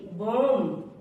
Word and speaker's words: bomb: एम के बाद आया बी हमेशा साइलेंट होता है। जैसे कॉम, COMB, कॉम। COMB, कॉम। BOMB, बॉम्ब।